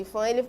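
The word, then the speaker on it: IPHAN: Então, o IFAM, né, pronuncia IFAM, ele tombou como um patrimônio histórico esse sítio arqueológico da Lapa da Cerca Grande.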